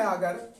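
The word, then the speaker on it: agree: शेयर मीस मिलकर करना अब देखिए शुरू में अगर आपका ये वावेल आ रहा है और उसके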